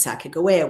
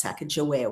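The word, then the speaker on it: Sacagawea: It was Saka Goa which used to be pronounced Saka Joa when I was growing up.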